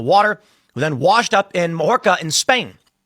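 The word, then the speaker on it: Mallorca: bodies in the water, then washed up in Morca in Spain. Mayora is how you pronounce it.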